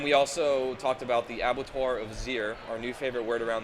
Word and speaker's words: Abattoir of Zir: But Abattoir of Zir, I believe, is how it's said.